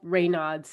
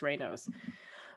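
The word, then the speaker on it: Raynaud's: uh rayno's disease um and i call it ray nods and then i i saw a way to pronunciate it apparently it's rainos but basically i have poor circulation in my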